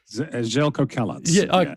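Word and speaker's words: Željko Kalac: of course a former Sakuri legend and uh and Zelco Zelk did I pronounce that correctly? Zelco Kalat.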